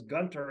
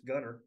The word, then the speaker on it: Gunter: I remember the first time I went to what I thought was Gunter, and it's Gunner.